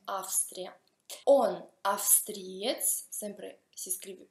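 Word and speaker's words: Австрия: Austria si scrive con la V, ma si pronuncia con la F, Austria.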